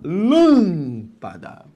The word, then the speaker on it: lâmpada: É aquela cuja sílaba tônica não é a última, lâmpada, não é a penúltima, lampada, é a antepenúltima, lâmpada.